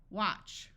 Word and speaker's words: watch: match match pitch Dutch and this word a will have its broad sound of ah watch CH sounds like C